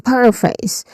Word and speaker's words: paraphrase: So, it starts with the stressed syllable par. So, par it um that's the stressed syllable. There's a short a vowel sound here and it ends with letter R sound.